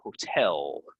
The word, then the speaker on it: hotel: the stress all right so it's hotel hotel so the stress is on the the um you know the last syllable the second syllable right um so you